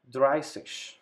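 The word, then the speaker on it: dreißig: word here swanseash then number 30 it's called dry sich in this word we have to use the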